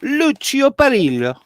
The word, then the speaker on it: Lucio Perillo: But you got to say it like this: Lucio Perillo. Lucio Perillo. Perillo.